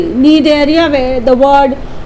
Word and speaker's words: Cnidaria: So Cnidaria, Cnidaria, where the word, the alphabet C is silent when you pronounce it, right?